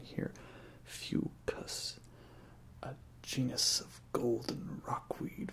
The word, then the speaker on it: Fucus: This is out of Fucus Rockweed Gose from Phillips, and it says in the back the pronunciation here, Fucus, a genus of golden rockweed found near the rocky seashores, shines in this lightly spiced citrus-forward Gose.